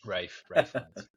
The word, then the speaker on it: Ralph Fiennes: Rafe Fiennes. Ralph Fiennes. Obviously he's a legend. Don't you dare name it wrong. Rafe Fiennes.